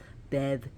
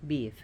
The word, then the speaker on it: Badb: B A DB H people have a lot of problems pronouncing her they call her B Bev or boo but her name is beef be or be is fine she her name comes